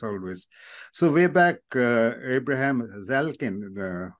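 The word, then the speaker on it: Zaleznik: so way back Abraham zalin if I pronounce it right z a l e z n i k um in in the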